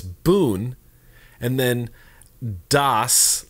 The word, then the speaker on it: Bund: their government is, and he sounded out for me. He said bun or B-U-N as in Pat Boone. So it's Boone and then Das, like in dad.